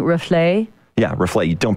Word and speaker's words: Reflet: thanks again for bringing in the you're saying rufle' yeah reflect on pronounce the T at the end of that